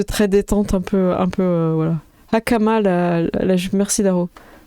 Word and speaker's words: hakama: Hakama, merci Daro. Avec le H qu'il faut bien prononcer. Hakama, je pense.